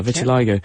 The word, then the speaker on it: vitiligo: how can it be stopped yes um the pronunciation slightly different it's Vitiligo close yeah Vitiligo and it is an autoimmune condition and what